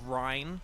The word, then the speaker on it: Ryan: kind of say like when I say Ryan often, I kind of say it as like a one-syllable word instead of two. So I almost say like Rhine, like from Xenoblade Chronicles, like it's Rhine time.